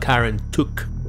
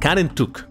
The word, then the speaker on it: Kar En Tuk: tuk and uh yeah i'm trying to pronounce it a little better because last time people were grilling me that i'm pronouncing it wrong god and duck all right karen took we're gonna we're gonna go with that as you can see